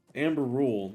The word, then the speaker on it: Ambarûl: calling it Amber rule it's Amber rule not Amber bu pronounce that wrong at